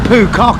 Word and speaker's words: Phu Quoc: good morning it's 7:00 I finally worked out how to say the name of the island I'm on it's poock is it so it's 7:00 in the morning on poock and um yeah we're